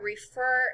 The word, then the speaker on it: refer: first syllable is accented look how the accent and upset is at the end refers at the end